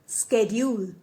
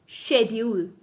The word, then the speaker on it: schedule: इस वर्ड के 2 प्रोनाउंसिएशंस होते हैं। एक होता है स्केड्यूल एंड the another one इज शेड्यूल। Schedule is the pronunciation of American English and schedule is the pronunciation of British English.